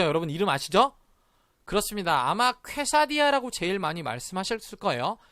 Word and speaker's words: quesadilla: 근데 어떤 분들은 가끔 발음 잘못해서 퀘사딜라라고 발음하신 분도 있을 수 있어요. 근데 아까 우리 배웠죠? 이거 딜라 아니고 디아였던 거 기억하시죠? 디아. 그쵸? 그런데 여기서 또 하나 신경 써야 될 발음 뭐죠? 여기입니다. 여기 발음이 쾌가 아니라 뭐라고 발음해야 될까요? 그렇습니다. 깨라고 발음해야겠죠?